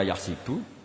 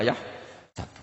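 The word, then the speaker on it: يَحْسَبُ: Karena dalam qiraat sab'ah ada yang baca yahsibu, qiraat kita baca yahsabu. Tapi guru-guru kita kalau ngajar fikih itu bacanya yahsibu. Tapi kalau baca Quran, yahsabu. Ya kan Quran kita kan ayahsabu Allah yaqdiru alaihi ahad. Bukan dibaca ayahsibu.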